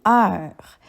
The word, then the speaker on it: heure: Pour ce mot, la lettre muette se trouve à la fin et c'est le S. Nous pourrions dire la phrase la souris se promène dans la rue. Une heure.